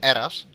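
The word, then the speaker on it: Herras: what's it called uh apparently you don't pronounce the h so we'll call him eras okay okay he's currently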